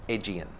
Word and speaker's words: Aegean: Aegean.